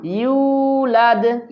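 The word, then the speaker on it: يولد: ওয়ালাম ওয়ালাম ওয়ালাম ইউলাদ এখানে এবিডির মধ্যে ইউ আছে ইউর ম উচ্চারণ করেন এবং এক আলিফ টান দেন ইউলাদ ইউলাদ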